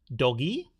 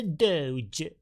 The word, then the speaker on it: Doge: okay Doge Doge a doge it's pronounced Doge there you know do it sounds a little bit French do do Doge you're